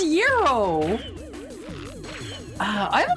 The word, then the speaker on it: gyro: It's It's Guyro. It's Guyro. That's a kebab. No, no, no. Cuz that's pronounced that's pronounced yuro.